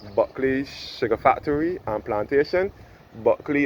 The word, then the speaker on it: Bulkley: Buckley is Bulkley, that is how it is spelled.